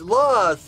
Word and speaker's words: Loz: Loz, it's Loz. He said it pronounced with a Z. You know, I'm pronouncing it with an S.